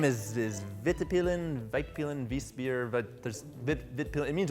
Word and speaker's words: Vitpilen: And then the model name is Vitpilen, Vitpilen.